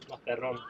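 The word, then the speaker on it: Mazarrón: How do you pronounce it, Dan? Mazzaron.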